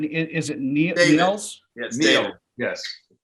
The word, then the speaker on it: Niels: wanna we just wanna say that um i pronouncing your name right is it nearls yes yes well i'm now i'm flabbergasted neil uh where did you get the idea from